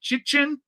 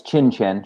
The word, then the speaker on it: Chin: pronounce your last name chi chin correct um you can unmute yourself we need to we need to hear you uh it's chin chin just as it's spelled chin chin okay welcome